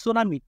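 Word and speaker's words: tsunami: আবার 2 নম্বরটা টিএস যদি থাকে, মানে সুনামি, টিএস, মানে টিটা কি থাকবে, সাইলেন্ট থাকবে।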